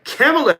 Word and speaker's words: Kamala: Kamala Harris has been big in the news after the most recent debate.